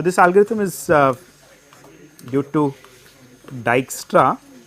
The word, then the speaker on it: Dijkstra: algorithm is due to dyra uh J is pronounced y so it will becomes d i y k dyu okay and what